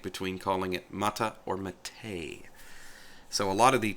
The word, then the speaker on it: MATE: talk about that name matei english-speaking people see it and they see ma te and they want to call it mate and the reason for